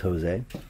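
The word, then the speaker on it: José: right now Josie Aldo this is Jose or Jose it's actually Jose eh I did not know that yeah he's a living legend Woodhead yeah I would have assumed it was Jose most people do because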